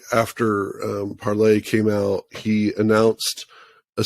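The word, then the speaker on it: Parler: paror U well it's it's supposed to be pronounced parlay but no one does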